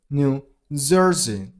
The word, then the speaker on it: New Jersey: New Jersey. New Jersey. You gotta stress on the first syllable of the second word, on zer. New Jersey.